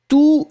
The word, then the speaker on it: tous: And you don't pronounce the final S.